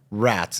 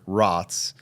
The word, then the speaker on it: Raats: Uh, you were saying that your grandparents are Dutch and it's pronounced over there rots, but you just go with the full rats.